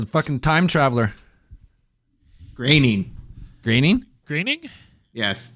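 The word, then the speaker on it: Groening: groin is a time traveler graining graining graining yes it's not groaning wait his last name's not groaning it's graining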